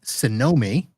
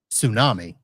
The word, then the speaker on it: Cynomi: that all right and the company is called sonomi yes sir and if you put a transcript into Ai and it tries to spell that out it comes up with tsunami some of the time so uh tell us about the name just so that we can get that it's spelled c y n oi yeah so the